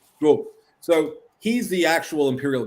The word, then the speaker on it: Drouot: How do you say that in French? Drouot.